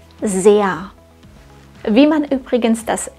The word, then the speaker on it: sehr: diesen Satz korrekt aus das Wort sehr enthält einen langen Vokal und das R am Ende wird nicht ausgesprochen sehr sehr dieser laut ganz am Ende klingt wie ein schwaches a sehr wie man übrigens das